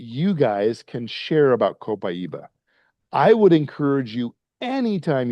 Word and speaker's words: copaiba: So, the next product we'll talk about is copaiba or I just got back from Brazil on Sunday and you better not pronounce it copaiba there. It is copaiba. I'm very adamant about that.